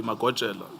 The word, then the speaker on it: Magojela: Naidu, where the deceased is, it's spelled as Majoela, but we know this to be Magojela, Timson Yes.